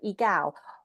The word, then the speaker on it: Egal: We wanted to really talk about this, and apologies, I actually pronounced it incorrectly. So Egal.